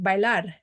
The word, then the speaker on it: bailar: And then there's B1 words, which is like bailar. It ends up with the consonant that's not NRS. Bailar, the stress is on the AR, so there's no written accent.